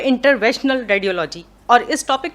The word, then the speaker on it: interventional: मैं डॉक्टर मोहम्मद काशिफ शाजली, नाम तो आपने बताया, और सबसे अच्छी बात ये कि आपने इंटरवेंशनल रेडियोलॉजी को प्रोनाउंस सही किया है, वरना लोग इसको इंटरनेशनल रेडियोलॉजी कर देते हैं।